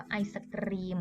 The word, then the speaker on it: ไอศกรีม: ว่า ไอศกรีม นะ คะ ไม่ ใช่ Ice Cream แบบ 3 กฤษ ด้วย อ่าน ว่า ไอศกรีม นะ คะ ไอศรีม ความ หมาย คือ